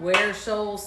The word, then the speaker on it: Ware Shoals: They said they're in a little town, Ware Shoals, South Carolina, and he said you pronounced it correctly.